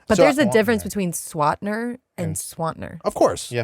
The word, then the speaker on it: Swantner: I don't know oh I don't even pronounce that one what you do what do you say swatner see that's what I'm